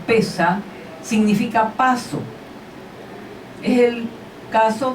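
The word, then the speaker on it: פסח: aclara esto verdad dice la palabra Pascua de que en latín se pronuncia pascae y en hebreo pesa significa paso es el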